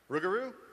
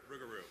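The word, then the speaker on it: Rougarou: How do you pronounce it? Rugaroo. Rugeroo.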